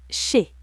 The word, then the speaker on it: chez: Chez, Z muet.